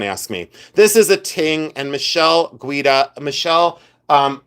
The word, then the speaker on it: tingue: This is a ting. T I N G U E. Ting. Uh this is a ting button. Uh pronounced t i n g, but it's ting.